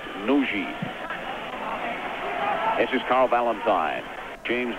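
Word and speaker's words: Nagy: back to the captain nogi spelt n-a-g-y but pronounced nuji this is carl valentine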